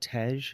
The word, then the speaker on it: tej: made a quart of how do you pronounce it is it tej the Ethiopian honey wine yep and then also started